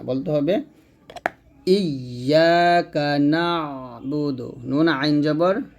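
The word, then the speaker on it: إِيَّاكَ نَعْبُدُ: ভুল হবে যা করা যাবে না বলতে হবে ইয়াকা নাবুদু নুন আইন জবর না এই আইন উচ্চারণটা চাপ দিয়ে বলতে হবে ইয়াকা নাবুদু ইয়াকা নাবুদু ওয়া ইয়াকা নাস ওয়া ইয়াকা নাসাইনু থামলে হবে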